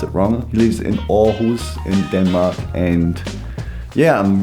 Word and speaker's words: Aarhus: he lives in our who's in Denmark up pronounce it Rama lives in Aarhus in Denmark and yeah I'm really keen the